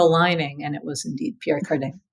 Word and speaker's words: Pierre Cardin: And it was indeed Pierre Cardin. But he would say it like, like Kardashian.